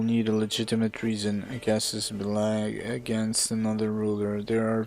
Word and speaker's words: casus belli: See how they say it. Casus belli. Casus belli.